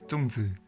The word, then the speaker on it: Zongzi: Hi everyone, today I will show you how my dad makes Zongzi (which is how you say it in mandarin), or Zong in Cantonese.